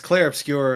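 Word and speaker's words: Clair Obscur: Um and I always mispronounce it, but the CLA expedition, what is it called again? I always it's it's well it's clear obscure expedition 33 and uh go back on that.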